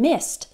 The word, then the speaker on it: missed: did just sounds like t worked also in missed so miss in the present and then missed